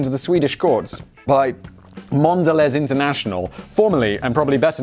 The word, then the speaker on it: Mondelez: and now the owners of cadbury and toblerone mondelez sounds a lot more fancy than kraft foods it's like who makes this craft foods who makes this mondelez internacional and that is the correct pronunciation mandalay argued that the packaging for m